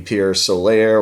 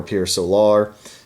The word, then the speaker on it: Pier Solar: if you're a southerner it could be Pure Solar you know I I'm from Texas so I would tend to to say it like if I was reading it you know out of the textbook I'd say Pure Solar but let's just call it Pure Solar you know give it